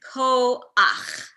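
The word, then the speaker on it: כוח: So the combination is pronounced as ach, not cha. So for example, this word here is koach.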